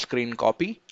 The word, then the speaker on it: scrcpy: as well so basically it is pronounced screen copy and they use like